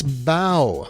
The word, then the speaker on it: bow: as a bow wave it's bow like the bow of a boat not bow like something you put your hair or the face a